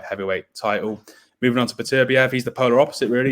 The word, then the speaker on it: Beterbiev: Or sorry, as my Russian friends told me, his name is pronounced Beterbiev.